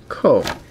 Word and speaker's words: Koh: Ko is pronounced Ko.